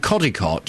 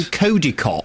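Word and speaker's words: Codicote: news today are mispronouncing codicott. You keep saying Kodiot. Kodicott. Not Kodi cot. I used to live there. It's codicott.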